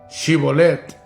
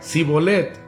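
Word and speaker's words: Shibboleth: Él respondía, si él respondía no, si él respondía no, entonces le decían, "Ahora pues di chibolet." Y él decía, "Sibolet, porque no podían pronunciar correctamente."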